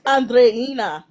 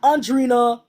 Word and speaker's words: Andreina: It's Andreina. Clock it. Not Andrina. Audrina. I can't believe.